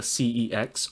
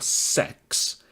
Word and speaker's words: CeX: tell you all about a thing called cex that's CX spelt cex and pronounced either cex or sex is a British chain